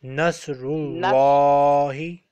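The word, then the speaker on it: نصر الله: Here alif and lam will be silent and the second lam will be pronounced because Rullahi. Yes. Nasrullahi.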